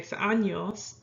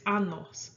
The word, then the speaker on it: años: So if you want to say that you're 23 years old, tengo 23 años, you say it like that. You don't say tengo 23 años, because that means you have 23 anuses.